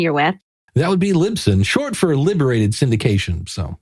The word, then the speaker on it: Libsyn: us what company you're with that would be libsyn short for liberated syndication so so i'm glad you said that because i was saying it wrong the whole time we were talking oh yeah lisbon lipson lip sync and i've heard them and so